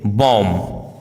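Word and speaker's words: bomb: यदि किसी वर्ड में एस सी साथ में हो तो सी का उच्चारण साइलेंट होता है, जैसे scene, seizures, disciple, discipline, science, conscience, accent, fascinate, muscle.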